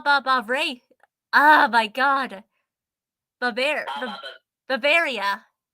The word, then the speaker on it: Bavaria: Bavaria. Is that it? Bavaria? That's how it's usually pronounced, I believe. Yay, I said right. You're all good.